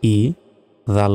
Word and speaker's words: إذا: এখানে হামজা জের হয় ই, জাল আলিফ জবর জা, ইজা। আমরা অনেকে ইজা বলি, ইজা কিন্তু এটা ভুল উচ্চারণ, ইজা হবে না। ইজা, জাল অক্ষর অবশ্যই জিহ্বা বের করে উচ্চারণটা করতে হবে এবং এখানে 1 সেকেন্ড টান হবে।